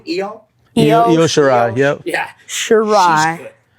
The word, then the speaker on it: Shirai: So Shirai. Shirai. Shirai, okay, Shirai.